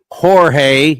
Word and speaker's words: Jorge: And I know it's pronounced Jorge, Jorge, but he goes, don't call me Jorge.